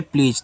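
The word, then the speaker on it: please: जा ए लिखा है प्लीज तो लास्ट में इ का उच्चारण होता नहीं है आपको पता है यहां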